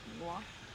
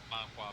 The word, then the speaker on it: manhwa: Manhwa? I think it's manhwa. Manhwa. I think it's Manhwa. just Okay. My bad. I used to read the manhwa before like anime, so.